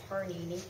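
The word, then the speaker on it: Pāṇini: panini, but I mean written like panini, but pronounced like Parnini, wrote in Sanskrit about phonology and grammar.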